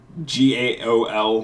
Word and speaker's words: gaol: prison them in hypogeum gaol which is pronounced jail because I looked it